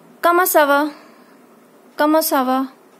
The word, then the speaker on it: ça: So you will say, comment ça va? Comment ça va? This is sa. As I told you, when C takes this sedil, it becomes sa sound.